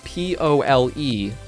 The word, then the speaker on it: pole: Go for Pool. it. Let's pool on this. This one Now, is a little bit offensive. I do have a friend that also pronounces P-O-L-E as pool as well.